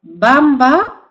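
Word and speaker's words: Wamba: no se escribe Perdón se escribe con w pero no se pronuncia con w se pronuncia con b Bamba y vitiza amba y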